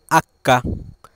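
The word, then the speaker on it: acca: পরবর্তী বর্ণটি রয়েছে এইচ এইচ K Italian ভাষায় উচ্চারণ করা হয় আক্কা আক্কা এইচ কে আমরা ইতালিয়ান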